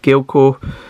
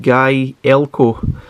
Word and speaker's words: Gaelco: got about gale co it tells you how to actually pronounce it i'm pretty sure myself and pretty much everyone else has been pronouncing that completely different like galco galco jalaco anything like that but it's actually pronounced guy elko um i guess that's